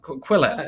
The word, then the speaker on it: Quillette: Is it pronounced Quillette or Quillette? Quillette, right?